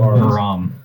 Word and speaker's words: Birom: Pronounce it for us, Mr. DM. Birom.